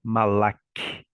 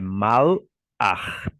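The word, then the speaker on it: mal'ach: escutando o vídeo e o pastor falou que é Malake em malaque Não não é malaquite pronuncia é mal ar então a metade a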